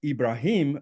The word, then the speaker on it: Ibrahim: Abraham, or Ibrahim, as is pronounced from a Quran Arabic perspective, is viewed by Muslims as the father of the Arabs and the Jews.